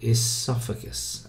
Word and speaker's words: esophagus: should be esophagus okay you pronounce the E esophagus all right the catlet